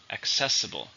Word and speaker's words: accessible: into it's an adjective how many syllables for stresses in a second accessible this book is accessible